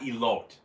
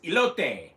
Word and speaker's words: elote: let's see here um you pronounce the e at the end of e oh so it's not elote because to me when you're when you have the e at the end then you know uh that o would be you know very much pronounced so to me it would be a lope but it's ilote so